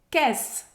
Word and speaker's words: caisse: Caisse, de novo, o E no final a gente não vai pronunciar. A pronúncia termina no S. Caisse. Caisse. E lembrando que o AI tem som de E em francês.